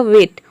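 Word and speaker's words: weight: फिर आप ये समझे कि जी एच टी इन तीनों को मिलाकर हम ट प्रोनाउंस करते हैं तब इसका प्रोनंसिएशन हो जाएगा वेट वेट मतलब होता है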